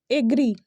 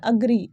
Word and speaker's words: agree: इसका अगेन जो correct pronunciation होता है वो होता है अग्री, अग्री। इट्स नॉट एग्री या एग्री, इट्स अग्री, ठीक है।